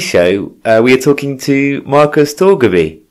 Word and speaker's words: Torgeby: On today's show, we are talking to Markus Torgeby. How are you doing, Markus? It's perfect. Good. Yeah, I got the pronunciation just about right. Yeah, it's perfect. Markus Torgeby, but I think it's hard to just say